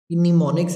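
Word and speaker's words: mnemonics: नाम लिखा हुआ है उसका निमोनिक्स इसे बोलेंगे एम इसमें साइलेंट होगा ठीक है ये आपके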